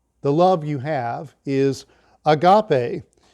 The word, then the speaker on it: agape: love you have is agape spelled a-g-a-p-e like a gape in English but it's pronounced agape we are told in